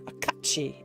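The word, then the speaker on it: cait sìth: I learn he is a kachi. And that's the word if you see in that Duke command there. Aachi is how you pronounce that.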